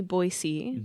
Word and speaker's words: Boise: that again it's mountain men they named the boisey river uh La Rivier baz b o i s e e so basically it's French um and if you've noticed we do say boyy that is the correct way to pronounce it